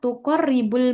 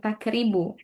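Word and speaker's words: تقرب: Nah, kemudian ini tadi bacanya li'annaha tuqarribul masafatu, bukan takribu.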